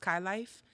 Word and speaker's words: Kai_LYFE: If you want to find me on Instagram, it is Kai_LYFE, pronounced Kai Life.